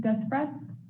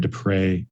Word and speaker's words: Dupray: i have is despress sorry if i'm just pronounced hey good evening um it's okay it happens quite often um it's uh my name is dupray and i am here